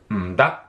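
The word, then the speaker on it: 唔得: Notice how the characters change here, and the way that you pronounce this in Cantonese is m-da, m-da.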